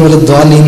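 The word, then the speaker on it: والضالين: نماز پڑھ رہے تھے، تو انہوں نے اعتراض کیا کہ آپ نے غیر المغضوب علیہم والضالین پڑھا ہے، حالانکہ اس کا تلفظ غیر المغضوب علیہم والضالین ہے، اور ان کے علماء کے مطابق اگر اس کو مغضوب اور ظالم پڑھا جائے تو یہ گناہ ہو جاتا ہے.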